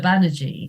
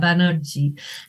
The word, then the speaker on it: Banerjee: differently I'm you know my name is pronounced in Bengali I'm in English I'm banagi in Bengali I was banerji and sounded nice